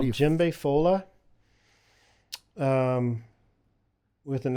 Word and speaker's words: Djembefola: it's Like, how called do you- Djembe Fola. With an How do you spell exclamation that? mark. So Djembe is spelled with a D. It's DJEMBEFOLA. And Djembe Fola is literally just means one who plays djembe.